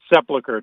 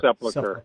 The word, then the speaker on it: Sepulchre: Is it Sepulchre? How do you say it? Sepulchre, Church of the Holy Sepulchre.